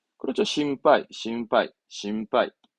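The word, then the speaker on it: 心配: 배는 하이 신배가 아니라 우리말로 걱정이잖아요 뜻은 걱정이고 발음은 그렇죠 신발 신발 신빠이 전 아까 일반의 반짝 저는 이제 반응 항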